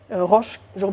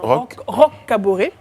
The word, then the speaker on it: Roch Kaboré: qui est le parti de roche jean prononce bien roch kaboré le parti de roch